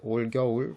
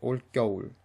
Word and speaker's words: 올겨울: It's spelled 올겨울, but it's pronounced 올겨울.